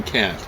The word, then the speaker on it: Kant: And so he said, we're going to call him Kant, because if I pronounce him correctly, you're going to think I'm using a four-letter word in English.